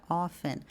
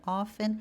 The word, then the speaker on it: often: A gente tem palavras, pessoal, como a palavra often, que a gente pode pronunciar ou não o T.